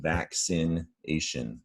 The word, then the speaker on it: vaccination: So again, about the 2 C's here, we're going to hear both C sounds. Vac, a hard C, k, and a soft C, vaccination, vaccination.